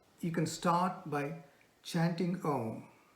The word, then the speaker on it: Om: As a first step, you can start by chanting Om, pronounced by Om, O-M, Om, it's the same thing.